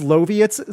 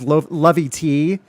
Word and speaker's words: Loviet: Also, it's Loviet. So, it said like Soviet with an L.